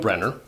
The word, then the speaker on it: Brynner: Yul Brynner, definitely not Brynner as I've heard people say, spoke Russian, French, Japanese, Hungarian, and English.